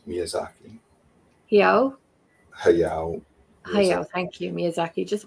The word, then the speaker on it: Hayao Miyazaki: Also, I'm going to pronounce this wrong. Hayao Miyazaki. Miyazaki. Hayao.